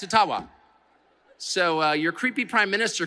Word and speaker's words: Ottawa: Ojibwa First Nations leader who said, actually, it's called Ottawa. And they've been mispronouncing it all these years. I'm not making that up. And if you have any Ojibwa friends, ask them. It's Ottawa.